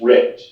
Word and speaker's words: Richt: Just so I'm pronouncing it correctly, is it Richt or Wright? I've heard both ways people say it. Counsel, someone give me the correct pronunciation. Counsel for plaintiffs, your client? Eric Pepperman for plaintiffs. It's Rick, Your Honor.